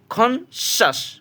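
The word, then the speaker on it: conscious: আপনি খেয়াল করুন, যদি আমরা কখনো পাই সি এর পরে IOUS আছে, IOUS মিন্স উচ্চারণ দিব হলো স এর মতো, তো সি এর পরে যদি আমরা IOUS এই চারটা লেটার একসাথে পাই তাহলে সির উচ্চারণ হবে তালব্যস্যা, স স এটার মতো। যেমন CON CIOUS, খন শ্বাস, খন শ্বাস।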